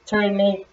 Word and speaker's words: Ternate: Dayon ternate. Ternate. Sa Bisaya pa ternate pag-pronounce, pagbasa di ay.